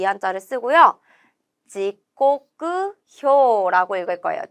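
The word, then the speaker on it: 時刻表: 지코쿠효라고 읽을 거예요. 지코쿠효 몇 번의 정답이 있냐면 3번의 정답이 있죠. 비슷한 발음들 헷갈리지 않게 정확한 발음으로 외워주셔야 하고요.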